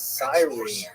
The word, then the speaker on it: Cyrene: are really sticklers for I've heard it pronounced as Cyrene English. In Greek, it would have been something like Kurene. So I'm probably going to say Kurene, and I'll probably be wrong, but this would be the first time.